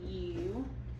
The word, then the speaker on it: duke: Cross the E out because it's silent.